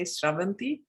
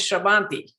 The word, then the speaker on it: Sravanti: first have to say how nicely you say sravanti i have not heard a non telugu telugu is my mother tongue a non-telego or a non-indian ever say my name like that and it is the correct way to say my name so thank you brahm for doing that everyone says srabanti you know they say chavanti because it's how it's comfortable he said so thank